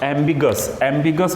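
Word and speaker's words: ambiguous: एम्बिगस बोलते हैं इसको, AMBGUOUS, इसकी स्पेलिंग ये वाली, एम्बिगस आर्टिकल।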